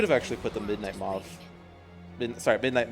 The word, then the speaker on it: Mauve: I could have actually put the Midnight Mauve. Midnight Maeve.